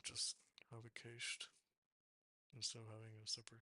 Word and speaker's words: cache: Most commonly used headers are cache control.